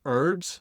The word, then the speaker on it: herbs: You like to pronounce things French in America, like herbs. I mean, what's going on with that? It's got an H. It's herbs, right?